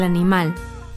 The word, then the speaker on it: animal: Para las palabras que terminan en todas las demás consonantes, excepto N o S, el acento recae en la última sílaba. El animal.